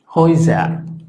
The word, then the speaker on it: Häuser: Luego el diptongo A umlaut U. Si habíamos dicho que la A umlaut suena prácticamente E, y esto es U, entonces es como si tuviéramos EU, y por lo tanto esto también suena OE como este. Ambos suenan OE. Entonces, por ejemplo, tenemos la palabra Häuser. Esto es casas.